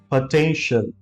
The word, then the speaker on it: potential: TIAL को कभी भी शियल बोलने की कोशिश ना करें because that's not the right pronunciation. Instead of saying shiel, just call it shell.